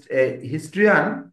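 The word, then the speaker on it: historian: হিস্টরিকাল তাইলে হিস্টরিকাল যখন তখন টরিকল আসবে ও উচ্চারণটা হবে আর যখন হিস্ট্রিয়ান মানে এটা হলো হিস্ট্রিয়ান মানে ইতিহাসবিদ তাহলে যখন হিস্ট্রি ইতিহাস তখন হিস্ট্রিয়ান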